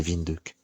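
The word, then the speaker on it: Windhoek: et je m'en souviens je me souviens de la prononceation c'était vindck parce que c'est c'est je sais plus si c'est néerlandais ou allemand je crois c'est allemand là-bas c'est c'est c'est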